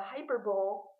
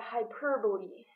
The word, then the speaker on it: hyperbole: at the Super Bowl the hyper Bowl but the hyperbole the word is escape